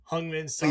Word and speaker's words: Heung-min Son: Help you with the pronunciation here, but Heung-min Son.